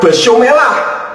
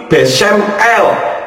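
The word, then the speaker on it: בשם אל: ustaz membacanya besumelah besumelak padahal jika rangkaian huruf bet Sin mem akhir dan Alet lamet itu membacanya bukan besumelah tetapi besem l yang artinya di dalam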